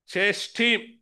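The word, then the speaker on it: Chasidim: இந்த காசி டீம் என்கின்ற வார்த்தை அது உச்சரிப்பில் சேஸ்டீம் என்ற சொல்லில் சங்கீத புத்தகத்தில் 23 தடவைகளாக வாசிக்கிறோம். இங்கெல்லாம் பரிசுத்தவான்கள் என்று மொழிபெயர்க்கப்பட்டிருக்கிறது.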